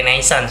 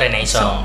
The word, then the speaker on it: Renaissance: tema freeden Freedom renaong Kalau biasa di di bahasa Inggris itu jadi Renaissance sih sebenarnya tapi kalau di sejarah bacanya renaisson he terus bisa diartikan lagi